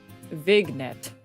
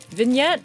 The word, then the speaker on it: vignette: Vignet. I don't think that's correct. I don't think that's correct. I forgot she's illiterate. I can read the words. Whether or not I pronounce it correctly is a different story. Okay. Vignette. vignette. Oh, is the G silent?